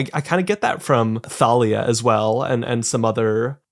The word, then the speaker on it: Thalia: I kind of get that from Thalia as well, and some other, is it pronounced Talia? I don't remember. No, it's Thalia.